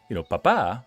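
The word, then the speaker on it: papá: And if it's, papa, with the emphasis on the second H, then it becomes... A. I mean, on the second A, exactly.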